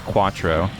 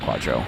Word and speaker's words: Quattro: So, Sandrock, that's Quattro, not Quadro.